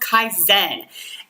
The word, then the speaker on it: Kaizena: And I know it looks like it's spelled Kaisennena, but it is pronounced Kaizen.